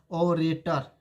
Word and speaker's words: orator: ओ, इसको बोलते हैं, साउंड इसका आता है ऑरेटर। अब देखिए जो ऑरेटर है, आप ही बताइए, ऑरेटर जो है इसमें साउंड आ रहा है, इसलिए एन लगेगा।